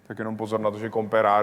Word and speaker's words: comperar: Just be careful that “comperar” is just one “r”, so it isn’t rolled.